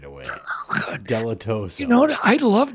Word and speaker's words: Dilettoso: We got Dilettoso on tonight. Dilettoso. I'm glad that you fixed that for me right away. Oh, good. Dilettoso.